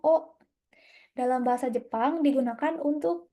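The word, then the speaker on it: を: Nih, partikel wo dibaca wo, tetapi biasanya diucapkan o.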